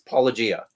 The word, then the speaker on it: Apologia: Yeah, it's Apologia. Apologia. Did you say it wrong?